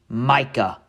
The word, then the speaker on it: mica: disclaimer for this video I do mispronounce Micah for M multiple times in this video so if you hear me say m it's really supposed to be Micah from the Appalachian Mountains